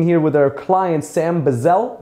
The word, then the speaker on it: Bizzell: And today I'm sitting here with our client, Sam Bizzell, Bizzell? - Exactly. - That's how you pronounce it?